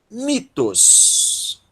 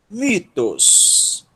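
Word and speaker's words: μῦθος: Vai dar mi. É a sílaba tônica. Teta, ômicron, sigma, tos. Mitos. Mitos.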